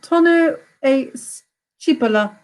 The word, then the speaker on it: tonno e cipolla: What toppings would you traditionally find on a tonno e cipolla pizza?